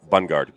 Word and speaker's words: Bungard: Bungard.